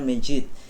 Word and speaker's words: masjid: hanya disebut masjid nah tulisannya kadang kayak c itu ya masjid padahal bacanya ternyata Majid itu ya ada yang